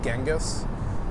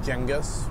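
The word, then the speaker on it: Genghis: think I think the the normal at least Americanized pronunciation is is genus but he pronounced it jengus which I'm assuming is more eth ethnically correct I don't remember him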